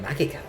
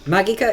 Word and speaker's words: Magica: The hard G is a feature of Latin. It's the same as I believe technically that is the correct pronunciation of that word in Puella Magi. Puella Magi Madoka Magica. I believe officially it is the Latin pronunciation.